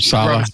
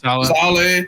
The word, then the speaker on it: Saleh: How do you pronounce his name? Robert Saleh. Saleh.